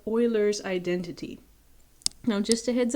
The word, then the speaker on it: Euler: concept check for today to prove what's called euler's identity now just a heads up y'all while